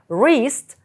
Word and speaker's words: wrist: elbow- лікоть forarm- передплічча wrist зап'ястя зверніть увагу літера w не читається hand- кість pam долоня